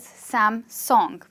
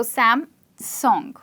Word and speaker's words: Samsung: And they call it as Samsung, like the song you sing. So Samsung. I'd say it again for you, Samsung.